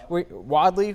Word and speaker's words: Wadley: We're going to see these areas near Wadley, I believe it's pronounced, Wadley, where you get the grays and the greens together.